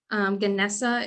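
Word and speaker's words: GNESA: Genesee is typically how it's pronounced.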